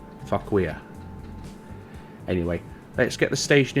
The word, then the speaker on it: Fauquier: I believe I pronounced that correctly. I did As I said in a previous episode, I did go and check the pronunciation, but that was several weeks ago, and I may have forgotten, but I believe that's what it was for queer.